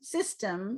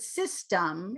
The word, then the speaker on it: system: be pronounced with schwa it doesn't mean that system system is wrong but system is more what you're going to hear from people put it in the